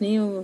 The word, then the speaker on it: know: कनो नहीं पढ़ना है, हमें नो बोलना है कि यहाँ भी क्या साइलेंट है।